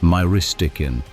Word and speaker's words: myristicin: Nutmeg contains a compound called Myristicin, which is pronounced Myristicin.